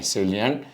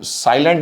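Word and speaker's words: salient: सेलिएंट features of human genome, साइलेंट नहीं है वो, सेलिएंट फीचर्स है, मतलब इंपॉर्टेंट फीचर्स है।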